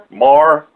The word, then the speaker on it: Maher: bad as this idiot wannabe news guy, Bill Maher or Mayer, or however you say it. Mystery Lady, how do you say his last name? Maher?